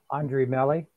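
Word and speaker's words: Andrée Melly: And how do you pronounce that young lady's name, that actress? Andre Melly. Andre Melly? Okay. I wasn't sure with the accent over the E.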